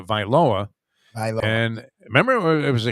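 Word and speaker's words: Tagovailoa: same answer twice and what are we going to go with tango vailoa tango lower is that the correct pronunciation that's what not viola i always put i like the same yeah yeah i always want to throw a little viola in there but it's uh viloa and remember it was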